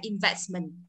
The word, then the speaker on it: investment: Tiếp theo invest là đầu tư, thì in cũng là đầu tiếp đầu, vì vậy trọng âm rơi âm tiết thứ hai. Thì giờ thêm đuôi mình vào để trở thành thanh từ thì chúng ta vẫn gì? Âm vẫn rơi từ vest là investment, được chưa?